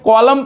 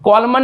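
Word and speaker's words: column: एन ठीक है यह इसको हम लोग क्या पढ़ते हैं कॉलम पढ़ते हैं कॉलमन नहीं पढ़ते कॉलम पढ़ते हैं और यहां पे क्या होता है एन भैया साइलेंट होता है तो इसका रूल बताएंगे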